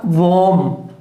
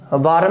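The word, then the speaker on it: warm: अब उसी प्रकार वॉर्म, वार्म नहीं है, वॉर्म, वॉर्म, क्योंकि यहां साउंड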